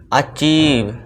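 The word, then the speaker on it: achieve: अचीव, देखिए दोस्तों, अचीव, सभी में ईव का साउंड आ रहा है।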